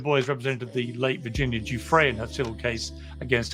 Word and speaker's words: Giuffre: to this interview with Piers Morgan and Virginia's Guthries. If I'm saying it right. Yeah, Giuffre.